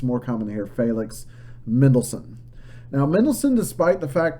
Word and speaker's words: Felix Mendelssohn: Felix Mendelssohn is the way I've always heard it pronounced.